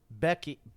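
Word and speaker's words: Bheki: pronounce that first word vaki that's how you say that uh Becky be Becky b h e k i it's a West coast.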